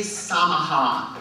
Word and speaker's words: Samaha: And we were also told that Ely Samaha, rhyming with Yamaha, was supposed to be here.